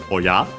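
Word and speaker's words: おや: Oh yeah. This exclamation. Oh. The accent of it is on the ya, oh yeah, and not just because of the question tone, of course, because yeah,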